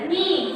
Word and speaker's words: kneel: Before I go to bed at night, I like, L-I-K-E, light, to, T-O, to, kneel, K-N-E-E-L, kneel. So here K is silent.